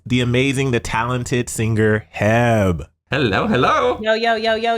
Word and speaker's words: HEB: to the podcast the amazing the talented singer heb hello hello yo yo yo yo yo okay